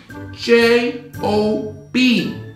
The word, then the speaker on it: Job: J-O-B. It's pronounced Job.